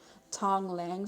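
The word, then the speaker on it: Tonglen: So I was doing the practice called, oh my God, I'm going to butcher the name. Hold on. Let me look it up, because it's called Tong Lang.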